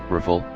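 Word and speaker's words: Rafale: number for the - ultra full French pronunciation riffle literally meaning gust of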